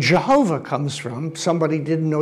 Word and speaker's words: Jehovah: to pronounce it and came up with Jehovah because Y's are J's, and I won't go there.